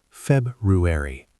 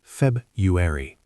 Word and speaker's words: February: February, pronounced February, not February.